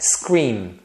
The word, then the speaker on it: scream: português Maria tá vendo você fecha a boca para falar o m Maria essa mesma posição que você faz no começo de uma palavra em português você vai fazer quando você encontrar palavras que terminam com M em inglês como essa scream a letra n é